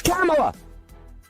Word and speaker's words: Kamala: ding dong kamala it's kamala it's kamala harris that's the way you pronounce it i'm sick and tired